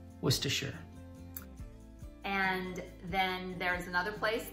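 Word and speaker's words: Worcestershire: after a sauce that is famously difficult to pronounce was to and then there's another place that you will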